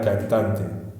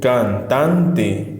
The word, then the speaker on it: cantante: Por ejemplo, acá, en la palabra cantante, Fíjate que la palabra cantante, ¿cómo pronuncio? Cantante, cantante. ¿Dónde está la mayor fuerza de voz? En tan. Entonces esa sílaba tan va a ser la sílaba tónica.